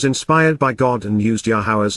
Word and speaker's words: Yahowah: min olam, and forevermore, Yahowah, Yahowah, the proper pronunciation of Yahowah, our Eloah, God has directed in his Torah, teaching regarding his Hayeh, existence and our Shalom, restoration.